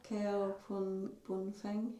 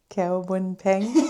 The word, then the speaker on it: Keobuonpheng: Yeah, so Keobuonpheng. Keobuonpheng.